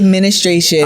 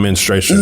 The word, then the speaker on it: menstruation: And I say ministration. I heard you, but I just let you live. Kev. I didn't want to correct a woman on menstruation. Listen, like, to be honest, I know how to say it correctly.